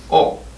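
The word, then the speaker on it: を: So nani o is an object marker, and o is pronounced as o, even though it's written as wo.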